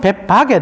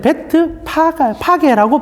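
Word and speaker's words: Bethphage: 우리말로는 벳바게 되어 있는데 원래는 베트 파게라고 부르는 게 정확한 발음입니다. 파게 혹시 들어보신 적 있습니까?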